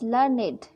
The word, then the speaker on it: learned: We pronounce it as learned to rhyme with created, waited.